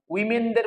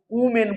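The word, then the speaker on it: women: Fellow মানে ভালোবাসে, যে লাভার and admiration, love and admiration for উইমেন, উইমেনদের প্রতি। উইমেন, এটা উচ্চারণ করে উইমেন, উমেন করবে না, উইমেন, উইমেন, উইমেন, ঠিক আছে।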